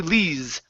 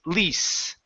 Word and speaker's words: lease: you corrected lease to lees it is going to be an unvoiced sound okay so this is lease neath good whether we